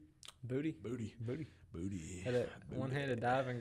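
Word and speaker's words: Boutte: Booty.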